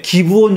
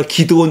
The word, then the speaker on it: 기브온: 그 창녀 라합이 살아났고, 그 다음에 기브온 족속이, 제가 기드온 족속이라고 잘못 발음했다, 잘못 말했다고 지적해 주죠. 맞아요. 제가 기드온이라고 잘못 써서, 기드온은 개인이고 사사고, 기브온 족속, 그거는 종족 이름이죠.